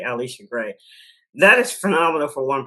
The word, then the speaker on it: Alisha Gray: Wilson, Pau Pau, Tiffany Mitchell, and Alisha Gray Alisha Gray, excuse me. Pronounce that correctly. Alisha Gray.